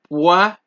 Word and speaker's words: poison: Poison. You remember when we had the two S's, it was poisson. Now there's only one S in this word, right? It is poison. Cerise.